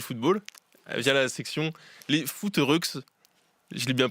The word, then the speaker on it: Footeureuxses: Le sport que vous pratiquez ensemble, c'est le football via la section les foot rux. Je l'ai bien prononcé.